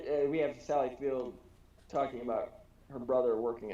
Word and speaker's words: Sally Field: to be pronounced field it's no s her name is sally